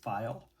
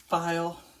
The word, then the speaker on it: Pfeil: I also bought my first I believe it's pronounced file goggle time Swiss made and this is the number 15 V gouge.